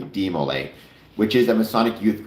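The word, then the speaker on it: DeMolay: look is demo or uh de I was pronouncing it correctly. De Mole, which is a Masonic youth group for young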